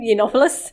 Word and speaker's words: Yiannopoulos: Like Milo, how do you pronounce his surname? Yiannopoulos?